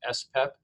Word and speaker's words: SPEP: And the level of the full antibody is usually measured in a test called the serum protein electrophoresis, or SPEP, pronounced SPEP, which measures the M spike, also known as the M protein or myeloma protein or monoclonal protein.